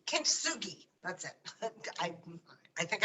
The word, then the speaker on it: kintsugi: you ever heard of a japanese art called kitsugi kintsugi that's it i i think i pronounced it correctly and i had never heard